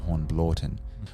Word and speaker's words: Hornblotton: One was Hornblotton, but she pronounced it Hornblorton, which is how the locals at that time would pronounce it too.